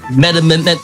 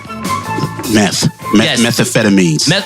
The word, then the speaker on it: methamphetamines: of an ounce suspected med amendment i pronounced that word methamphetamines methamphetamines yes sir methaphetamines yes i'm embarrassed i knew that word it's cool methamphetamines all right so